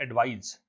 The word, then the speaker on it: advise: अगर इसमें एडवाइस की स्पेलिंग ये होती ADVISE तो ये होती वर्ब, इसको पढ़ते एडवाइज। और ये जो ADVICE है इसको हम पढ़ते हैं एडवाइस, और ये क्या है, नाउन है।